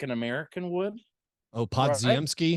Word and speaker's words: Podziemski: Brandon Podziemski. It sounds right. I'm not positive. I think you got to get that J sound in there. The DZ Podziemski. Okay.